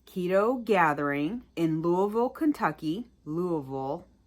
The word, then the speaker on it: Louisville: Louisville. That's how they say it, I think.